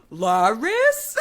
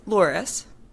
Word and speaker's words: Loris: It's pronounced Loris. It's not Lori.